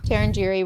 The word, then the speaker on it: Tarangire: Yeah, But first day we were in Tarangire. Tarangire, which we're definitely saying wrong.